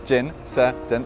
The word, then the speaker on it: Gincident: So they went with the pronunciation, which is gin, sir, dent.